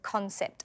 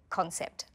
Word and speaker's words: concept: Let's pronounce the word concept. Say it with me. Concept. It has 2 syllables. Can you hear the stress? Concept. The stress is on con.